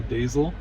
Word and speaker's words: Deyzel: The video that I used to use the mug cake was by Noel Dazel. It's spelled Deyzel.